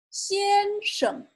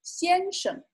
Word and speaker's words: 先生: 先生, 先生. And note that this is also a neutral tone, so it's pronounced quietly. 先生 can mean Mr.